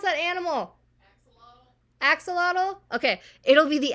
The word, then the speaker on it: axolotl: How do you pronounce that animal? Axolotl.